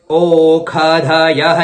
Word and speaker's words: ओखधयः: ओखधयः, यहां पर ख का उच्चारण करना है।